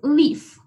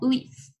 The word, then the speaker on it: leaf: Cuando hay juntas E y A, se pronuncia la I. Es leaf, como leaf.